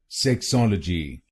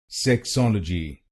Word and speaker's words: sexology: So it becomes sexology sexology to sol a ji to sol a ji sexology sexology and in this word you have to stress the second syllable sexology sexology.